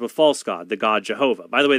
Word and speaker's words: Jehovah: false God, the God Jehovah. By the way, they call him Jehovah because they combine the vowels for Adonai with the Hebrew tetragrammaton. So we have Yahweh, the